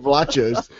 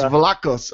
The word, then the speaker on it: Vlachos: I had nachos on the brain, so I'm thinking Vlachos, and all of a sudden he's Vlachos.